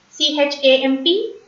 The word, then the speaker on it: champ: A-M, A-N, E-M, E-N, on. C-H-A-M-P, champ.